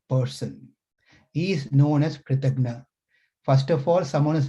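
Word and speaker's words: कृतघ्न: Kritagya, Kritagna. These are two Sanskrit terms with a very slight one syllable difference.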